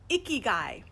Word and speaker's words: ikigai: how are ya and it's spelled i k i g AI okay and yes i was looking at my notes i wanted to make sure I got that right this spelling cuz it sounds like a key guy well that's how you'll